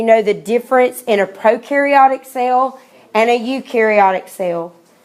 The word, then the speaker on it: prokaryotic: by a bunch of prokaryotic cells deciding to live together in the same cell. But anyway, that is, so they're going to be the most ancient. Prokaryotic, we know that pro rhymes with no.